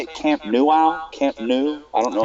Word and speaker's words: Camp Nou: You say it Camp Nou? Camp Nou? I don't know how to say it. They say Camp Nou, yeah.